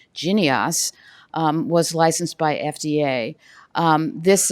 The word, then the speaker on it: Jynneos: And as you just heard from our FDA colleague, in 2019, a third-generation vaccine by Bavarian Nordic, which I now recognize is pronounced Jynneos, was licensed by FDA.